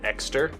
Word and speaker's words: Ekster: All right, the next one is a new wallet I've been using from a company called Ekster. I believe that's how you pronounce it, E-K-S-T-E-R.